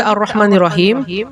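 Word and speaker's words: الرحمن الرحيم: Contoh, Ar-Rahmanir-Rahim, Ar-Rahmanir-Rahim, Ar-Rahmanir-Rahim. Maka tata cara bacanya bukan Al-Rahmanir-Rahim, tapi Ar-Rah, ya, bukan Al-Rah, tapi Ar-Rahmanir-Rahim.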